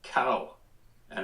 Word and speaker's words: Cohen: My name is Cohen, pronounced cow and an cow and an N. Cowan.